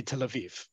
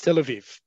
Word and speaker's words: Tel Aviv: native Israelis native Hebrew speakers will always say Tel Aviv okay it's Tel Aviv the both in terms of where the syllable the emphasis on the syllable has to